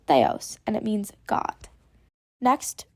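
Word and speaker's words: θεός: I'd try to pronounce it by yourself it's pronounced Theos and it means god next we have Tau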